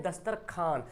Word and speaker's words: दस्तरख्वान: आए तनख्वाह है लिखो ख्वाजा लिखा हुआ पढ़ते क्या है खाजा लिखा हुआ खा जा लेकिन वो को साइलेंट कर देते ख्वाजा बोलते हैं है ना दस्तरख्वान लिखा हुआ है लेकिन पढ़ते हैं दस्तरखान अच्छा बहुत लोग ख्वाब